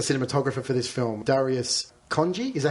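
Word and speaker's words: Khondji: for this film darius congi is that how you pronounce his certain i believe it's hanji but uh no i don't know how you pronounce it um he's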